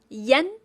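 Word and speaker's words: ian: I A N in pinion is pronounced as Yen.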